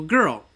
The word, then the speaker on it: girl: of this girl and we say that not Gil we say girl g i r l girl some people think they're